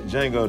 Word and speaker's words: Django: Django the D is silent.